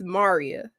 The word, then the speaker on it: Maria: name is actually is spelled Maria but it's pronounced Maria Maria okay my bad Maria you're cool you're